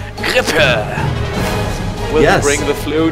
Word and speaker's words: Grippe: It's with your English pronunciation, but I want to go with the German, dude. Let's do that, because that it seems cooler. The German is Grippe.